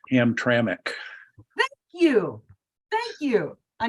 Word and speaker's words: Hamtramck: so much a question as a comment it's pronounced Hamtramck thank you thank you I need to learn